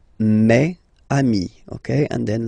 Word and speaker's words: mes amis: It's the plural form, so it's mes amis, okay? And then let's be purist and make this beautiful liaison between these two words. Mes amis, mes amis, mes amis.